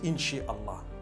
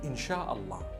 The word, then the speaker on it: Insha Allah: Inshi is the amr. It is the instruction, right? The command. Inshi means to create. No one says Inshi Allah. They say Insha Allah. That's what it is.